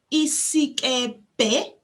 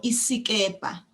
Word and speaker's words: isikepe: A boat is isikepe or isikepe. That last syllable is either a BHE or a PHE, interchangeable. Isikepe or isikepa, doesn't matter, whichever you use.